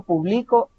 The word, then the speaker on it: publicó: verbo publicar luego está la misma palabra con un acento en lado hasta el final y entonces ya descubrimos qué es el pasado de publicar yo publicó esta canción por ejemplo